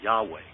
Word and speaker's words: Yahweh: The letter was I, and it was pronounced like a Y.